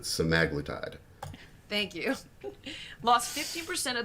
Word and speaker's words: semaglutide: Outlets most people pronounce it semiglutite if you listen to videos of the original researchers they pronounce it semaglitide thank you lost 15